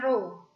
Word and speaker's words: rho: Rho atau massa jenis, ini bacanya rho.